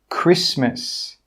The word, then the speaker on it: Christmas: The letter T is not pronounced in these words. Castle, Christmas, gourmet, listen, rapport. In all of these words, we're not pronouncing that T sound. It is silent.